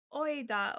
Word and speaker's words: oida: Do you say oida, or how do you pronounce it? Can you write how you pronounce it? Oida. So really like oi and ta.